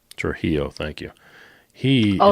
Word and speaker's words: Trujillo: It was It's something that's very hard to pronounce. Robert Trillo. Trujillo.